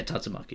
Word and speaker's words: Tatsumaki: The Tatsumaki, is that how you pronounce the name? Yeah, Tatsumaki.